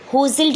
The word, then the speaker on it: jostled: मैन होजिल each other, होजिल JOSTLED, इसका pronunciation बेटा होजिल्ड होता है और इसका मतलब होता है धक्का मुक्की।